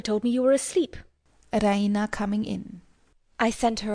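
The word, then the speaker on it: Raina: she pronounces it the Rena with the stress on the E Rena she goes to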